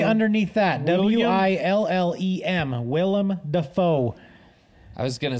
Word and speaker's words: Willem: oh well well it says William Will um it's spelled w-i-l-l-i-a-m no that that bro's been live okay right underneath that w-i-l-l-e-m Willem Dafoe I was gonna say what is